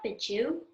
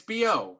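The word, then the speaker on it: Bejou: It's spelled B-E-J-O-U. Isn't that Bijou? No, it's B.O. It's French.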